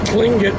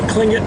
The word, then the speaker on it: Tlingit: And then we also have a historical accounting of, in the year 1750, the Tlingit village there, spelled with a T, pronounced with a K, Tlingit village, was a substantial